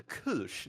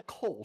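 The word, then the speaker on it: Kölsch: like pronunciation yes and it's called a Kush not a k it's a Kush just just a heads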